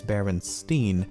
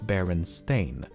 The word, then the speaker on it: Berenstain: this segment multiple times as I found myself pronouncing it Berenstein even when I should be saying Berenstain, and I've never even heard of the franchise before making this video.